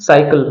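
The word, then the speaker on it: cycle: transcription है हिंदी में क्या पढ़ा जाएगा इसको साइकिल पढ़ा जाएगा है ना क्या हो गया साइकिल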